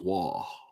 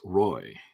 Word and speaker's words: Roy: If you're in Montreal, it's Waugh. If you're in the East, if you're in the West, it's Roy.